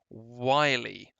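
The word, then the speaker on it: wily: to be clear guys you pronounce this one wiley why like wiley coyote is a very famous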